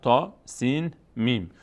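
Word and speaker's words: طسم: تا سین میم. اینطور میخوانیم تا سین میم. ولی چون روی سین و میم مد هست، هر کلمه اسم سین و میم رو در هنگام تلفظ کش میدیم.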